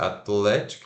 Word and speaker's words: athletic: Mas pronuncia, ó, o A é A, não é A nem E, é A. É. TH desvozeado. Ath. Apóstrofo indicando sílaba tônica. L-E-T. Let. Athlete. E curto o K. I. Athletic.